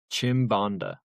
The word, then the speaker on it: Chimbonda: That would be Pascal Chimbonda, What position is this? And who? left wing back. Pascal what? Chimbonda. Spell that, brother.